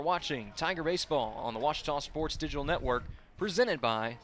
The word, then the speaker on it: Ouachita: Texas everybody pronounces it witch but really it's was was how would you pronounce it it's Baptist University get it right